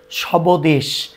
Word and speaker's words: স্বদেশ: যদি লক্ষ্য করি এক নম্বরে শব্দের প্রথমে বফলা থাকলে সচরাচর বফলার উচ্চারণ হয় না। যেমন আমরা যদি এখানে বলি ধবনি সবদেশ। তাহলে আসলে এভাবে করে কেউ উচ্চারণ করি না। আমরা করি ধনি স্বদেশ।